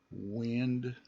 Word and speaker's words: wind: is find Wild wind and those wind has a short I sound it has the e sound wind bind find number three mind blind